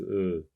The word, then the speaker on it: œufs: 2 œufs. Attention, on ne prononce pas FS ici. On dit un œuf, 2 œufs. Quand c'est pluriel, on ne prononce pas le F.